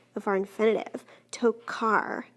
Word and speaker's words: tocar: Tokar, car, sounds like a K. That's a hard C sound.